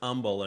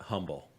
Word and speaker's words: Humble: know that it's pronounced humble and not humble.